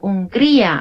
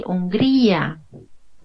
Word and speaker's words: Hungría: look for the country, it's Hungría, and you can see a small mark too that is called tilde, and you have to increase your voice. Okay, Hungría. A little bit up, right?